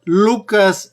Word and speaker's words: Lucas: a lucas a hitler así se pronuncia lukas en en hebreo tenemos un evangelio gracias